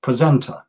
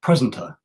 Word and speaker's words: presenter: the first syllable journalist or the word presenter that's on the second somewhat presenter but if I stress on the first syllable presenter or journalist I say